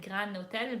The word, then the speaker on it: Gran Hotel: It's called El Gran Hotel, but I will. And it's not spelled like grand with a D. It's just Gran Hotel.